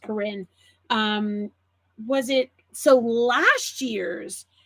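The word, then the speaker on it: Karin: The Karen or Corinne, I think they're actually pronounced Corinne.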